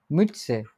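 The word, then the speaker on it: Mütze: দি মিটসে this মিটসে উমলা আউট আছে ঠিক আছে একটু স্বীকৃত করে উচ্চারণ করবেন মিটসে মিটসে মিটসে এইতো চমৎকার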